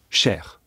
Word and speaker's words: cher: singulier ou pluriel et dans tous les cas on prononce cher attention il peut y avoir quelquefois des liaisons cher ami chers amis au quel cas on entend bien le pluriel d'ailleurs selon la place